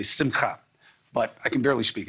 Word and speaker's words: simcha: trying to get better Sim customer I know that's not the right way to say it I know I'm supposed to say simcha but I can barely